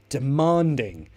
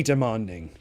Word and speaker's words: demanding: surgeon is very demanding stress on man demanding it's very demanding I mean especially right